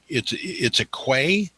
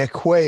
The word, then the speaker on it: quay: It's a quay. Oh, okay, a quay. They call it a quay. A quay. Okay. Well, here's a quay. Yeah, it's spelled quay.